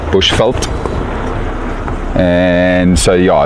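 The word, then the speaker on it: Bushveld: came up here so Bush fult chenan uh refers to the habitat that we're in and it's spelled bu u s h v e l d Bush felt and so yeah it's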